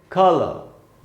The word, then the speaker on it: colour: इसका उच्चारण कैसे, क पर स्ट्रेस है, क पर थोड़ा सा रुकना है और ल के बाद आधा अ यानी वहां थोड़ा कम रुकना है, यानी इसको हम पढ़ेंगे कलर ब्रिटिश इंग्लिश में।